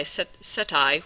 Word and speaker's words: setae: A lot of them will have something called setae, or AE is I, setae would actually be the correct way to say it, setae, and these are little bristles that help in movement.